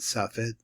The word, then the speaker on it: Safed: I'm going to pronounce it the way that I know it is really. He calls it Safet.